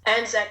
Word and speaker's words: Anzac: of commissioned works I realized you wrote the Anzac Anthem did I pronounce that right Anzac Anthem that's right yes uh can you tell